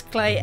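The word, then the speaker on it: Klei: again for my pronunciation it's cly or clay spell k-l-e-i that's clay entertainment now this is an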